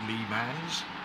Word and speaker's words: Le Mans: Obviously the real pronunciation is Le Mans.